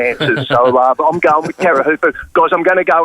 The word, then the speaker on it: Teahupo'o: It's a Teahupo'o is how we pronounce it.